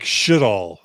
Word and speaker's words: Sjodahl: So Carl Youngblood says the correct pronunciation in Norwegian sounds like Sjodahl. Emphasis on the first syllable.